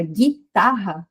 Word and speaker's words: guitarra: Então, na palavra guitarra, a gente tem um dígrafo, porque o g e u formma apenas um fonema.